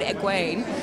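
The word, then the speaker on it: Egwene: especially now that people will know how to pronounce it yeah or unless anyone wants to call their kid egg wayne it can be egg for sure which i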